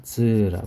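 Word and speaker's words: 酢: 그 다음에 이거는 시라코라고 읽어요. 여기서는 시라코. 그 다음에 이건 폰이죠, 폰. 근데 이거는 식초라는 뜻인데 즈라고 해요.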